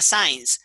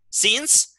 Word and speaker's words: since: de tiempo cuando usas since no se pronuncia saints se pronuncia since science es science ciencia since no vas a poner